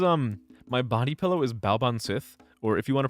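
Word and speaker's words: Baobhan Sith: This is um my body pillow is Ban Sith, or if you want to pronounce it like the right way, it's a Banshi from uh from Fate Grand Order.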